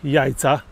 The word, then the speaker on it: Yaiza: Teraz chwila przerwy w miejscowości Jajca. Fajnie to brzmi, ale pisze się zupełnie inaczej.